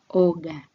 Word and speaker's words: oga: O is pronounced as O in got, with the lips kept apart throughout the sound. We have a Swahili example here of the word oga, meaning to take bath.